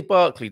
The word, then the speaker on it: Berkeley: out um berkeley california berkeley buck we say barkley don't mean it's berkeley isn't it when you pronounce it as it as it's written um in um it